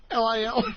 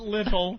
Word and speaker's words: Lil: L-I-L? L-I-L. L-I-L. Not little. It's Lil.